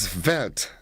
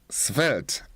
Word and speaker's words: svelte: The word of the day today, it is that what is svelte. Svelte. S-V-E-L-T-E. That's how it is spelled.